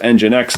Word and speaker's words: nginx: status and then nginx and gin x we pronounce it nginx all right so systemctl status engine x that's another one that could potentially be installed